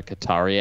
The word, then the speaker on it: Qatar: It is pronounced Qatar.